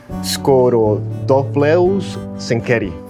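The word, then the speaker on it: Scorodophloeus zenkeri: Scorodopleus senkeri.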